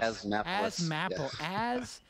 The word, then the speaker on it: Asthmapolis: And when we get back, we're going to have Mark from how do you pronounce that? Asthmapolis. Asthmapolis. Asthmapolis.